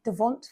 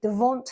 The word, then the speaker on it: devant: means front I think devant when it's written down it's got a t on the end which is silent I think devant front and der a